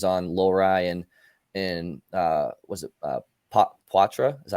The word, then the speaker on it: Poitras: But maybe guys, your opinions on Lohrei and was it Poitras? Is that how you say it? Yeah, Poitras.